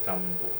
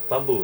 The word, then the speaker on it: Thumboo: I hate this no how my name pronounce oun as Edwin Tambo Tambo sorry edn Dr Edwin